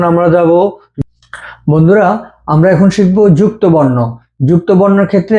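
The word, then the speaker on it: しゃ: এখন দেখবো আমরা শি দিয়ে। শি, ইয়া। এটার উচ্চারণ শিয়া হবে না, এটার উচ্চারণ হবে শা।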